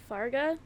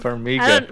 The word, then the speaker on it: Farmiga: Farga. Fargo? Patrick Wilson. There you go. Fuck off. Farmiga.